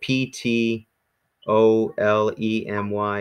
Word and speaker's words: Ptolemy: general put you know Ptolemy but the here's an example the P is actually silent so to Louis's question there so it's it's spelled in our alphabet PT o le my or now in our